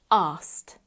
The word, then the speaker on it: asked: add the unvoiced T ask that's quite a hard consonant cluster there ask in fast spoken English we often get rid of the C Sound and say asked I asked him a question remember we don't pronounce the letter e we don't add an extra syllable let's practice blending those